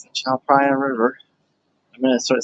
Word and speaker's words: Tha Phrachan: I was saying Tha Phrachan, but then I realized, PH. Yeah, PH is just P. I guess TH is also just T. Slightly different pronunciations, but for English phonemes, it's probably easier to just go with P and T, and you'll be understood.